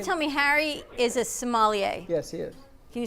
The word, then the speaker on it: sommelier: have this whole thing it's sommelier sommelier so that's a big debate i think you know technically sommelier um however i've heard similar and and nobody really corrects